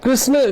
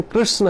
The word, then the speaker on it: कृष्ण: कृष्णा को, कृष्ण को, वैसे तो है ये है हरे कृष्ण कृष्ण कृष्ण हरे हरे, हरे राम राम राम हरे हरे। तो वास्तव में ये सही उच्चारण है। लेकिन कभी कभी फ्लो में हरे कृष्णा कृष्णा सुनाई भी, कोई कृष्ण भी कहे ना, सुनाई देता है कृष्णा कृष्णा।